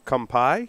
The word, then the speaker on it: Kampai: Will, I smoked one of the ones from Maya Selva Cigars, the Kampai.